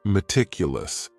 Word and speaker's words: meticulous: The next word is meticulous, and this word has 4 syllables, and the stress is on that second syllable. Meticulous, meticulous. That first syllable also has that schwa, that A sound, that reduced vowel sound.